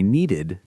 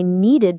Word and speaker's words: needed: I needed to call John. Many students forget that extra syllable. They say need to even for the past. It's important to hear the id sound. Yesterday I needed to work.